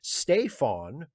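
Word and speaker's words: Staofain: characters left okay your name in Irish is pronounced Stefon spelled s-t-a-o-f-a-i-n doesn't that touch your life with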